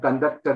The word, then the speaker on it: conduct: I can I have conducted an exam that's conducting conducted the exam but this is conduct conduct yes this test is on second syllable yeah contrast okay identify